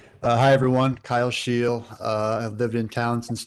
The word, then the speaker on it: Scheel: Kyle, is it Shield? Am I pronouncing that right, Kyle? You are correct. Hi, everyone. Kyle Scheel.